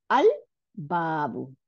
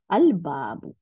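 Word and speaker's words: البابُ: আল বাবু, দেখেন লাম উচ্চারণ করলাম, তাহলে আমাদের উম, বাটা সাথে লাম উচ্চারণ আলাদা হইলো দেখে আমাদের বার উপরে সাদ্দা পড়ে নাই, তাই না? আল বাবু।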